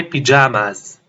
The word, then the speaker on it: pajamas: change into my pajamas make sure to pronounce the S at the end it's not like French it's my pajamas if it's raining I